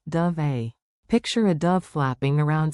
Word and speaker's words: dov'è: Sounds like dove eh.